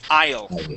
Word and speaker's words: isle: word's a strange word the S is going to be silent okay the S is